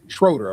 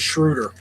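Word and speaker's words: Schröder: Schroeder or Schroider? Schroeder, I think. Right. His name is Shruder. Shruder. Even though it's spelled like Schroeder.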